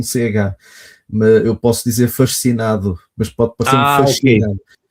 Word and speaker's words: fascinado: Tu falaste que estavas fascinado, né? Eh, vocês pronunciam o dígrafo do SC com o som de ch, com som de X, né? Para nós aqui a pronúncia disso é fascinado, né?